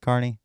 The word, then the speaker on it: Kearney: is on the map uh Nebraska Kearney Nebraska Kearney that's how you pronounce it Kearney Nebraska's on the map and